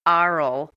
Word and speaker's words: aural: And I say aural because it's spelled A-U-R-A-L. It means ears. It does not mean O-R-A-L, which means vocal, voice, mouth, whatever.